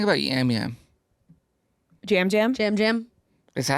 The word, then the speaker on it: Yam Yam: Jam Jam? Is that how you say it? I'm looking at the thing and it's... Yeah, it's spelled that way, but it's Jam Jam.